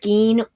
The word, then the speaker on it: skein: yarn in this okay okay it is spelled s-k-e-i-n pronounced skeen skein or ball skying i've heard sky i